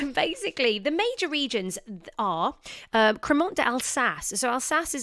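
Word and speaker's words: crémant: you're looking for spelling it's spelled cremant as in c r e m a n t but cremont um i hope you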